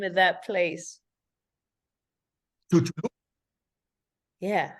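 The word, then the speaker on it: Chicxulub: Chulub. Yeah, say it again. Chulub.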